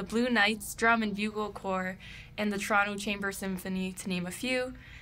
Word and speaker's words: corps: Did I pronounce corps right? Yeah, corps.